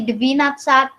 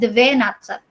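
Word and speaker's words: двадцать: Terus ini bacanya, nah ini bacanya bukan deve ya, walaupun ini D, ada V, ada E, itu bacanya bukan deve natsat, no. Bacanya devi natsat.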